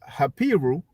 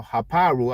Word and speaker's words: Hapiru: need to demonstrate how the hapiru or heparo as they like to pronounce it have anything to do